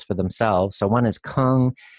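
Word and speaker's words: !Kung: So one is Kung. The explanation point in the beginning is pronounced with a sound.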